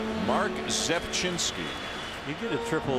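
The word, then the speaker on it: Zepczynski: Zepchinski.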